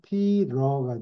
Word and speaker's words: Peter: 없이 피터라고 적어야 되는데 발음은 피터가 아니고 피러가 돼요. 피. 비를 할때 하우스 아. D인지 R인지 하여튼 발음이 소프트하게 되네요. 예. 네, 그래서 피러.